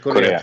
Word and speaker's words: Correa: Yes, Korea. North Korea, South Korea. That's the correct pronunciation.